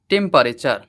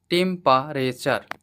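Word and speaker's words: temperature: এবারে লক্ষ্য করো একদম শেষের সিলেবল টি ইউ আরই এর উচ্চারণ কিন্তু টার বা টিওর হয়নি। এর উচ্চারণ হয় চার। টি ইউ আরই এর উচ্চারণ সর্বদা চার হয়। সো তাহলে ওয়ার্ডটির প্রোনাউন্সিয়েশন হল টেম্পারেচার। টেম্পারেচার।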